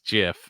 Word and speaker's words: GIF: to say gif is jiff as I as I thought it was according to the creator who says it's pronounced jiff like the peanut butter he's the first articles